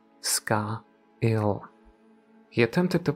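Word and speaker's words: scáil: came to rest on the gelic word for shadow sky and hovered over the pronunciation SCA ill he attempted to pronounce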